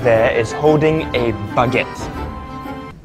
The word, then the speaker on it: baguette: Nicholas right there is holding a baguette. Bakute. Baguette. Bagatti.